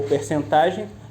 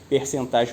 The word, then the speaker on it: percentagem: também a porcentagem ou percentagem Lembrando que essa palavra tem uma dupla pronúncia eu posso falar percentagem ou porcentagem as duas possibilidades estão corretas voltando porcentagem ou percentagem